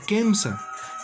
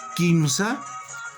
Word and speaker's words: Kimsa: Se escribe Kimsa, pero no se pronuncia Kemsa. Kimsa es Kimsa. Se escribe y se pronuncia como usted lo observa.